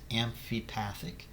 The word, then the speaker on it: amphipathic: difference between hydrophobic hydrophilic and amphipathic that is pronounced amphipathic and you need to know what those three